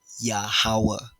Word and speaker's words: YaHaWaH: of the Hebrew Bible, His true name, pronounced phonetically correctly, righteously sounding it out, a pronoun that means something is YaHaWaH.